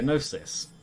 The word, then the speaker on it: gnosis: you have to acquire gnosis i think it's narcissism like g is silent in that once you